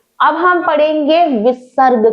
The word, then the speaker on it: विसर्ग: है अब हम पढ़ेंगे विसर्ग के बारे में कुछ शब्दों के पीछे इस तरह की दो बिंदी लगी होती है जिसे विसर्ग कहते हैं विसर्ग का उच्चारण अह वर्ण के समान होता है जैसे पुनः नमः प्रातः